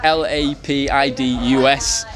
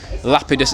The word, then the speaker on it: Lapidus: it's lapidus lapidus on instagram that's l-a-p-i-d-u-s lapidus it's pronounced not lapidus nothing like that i said